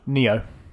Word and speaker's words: Nioh: Neo. It is Neo. Yeah. It's spelled really stupidly.